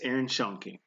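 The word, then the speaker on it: Aaron Schoenke: believe is I hope I'm not pronouncing that name wrong. Um, this is why I should have been prepared, right? Yes, Aaron Shonke.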